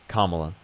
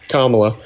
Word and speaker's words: Kamala: But another thing that kind of to be honest that party in particular like the is it pronounced Kamala or Kamala? Kamla. Okay. Sorry. Kamla.